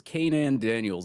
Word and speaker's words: Kanan Daniels: Yeah, I think it's Kanan Daniels is how you say his name, because I am the So I butcher of pass it to names.